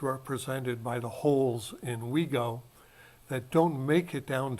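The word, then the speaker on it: WIGO: sense represents what in general semantics is called Wego or it's spelled w-i-g-o and it stands for what is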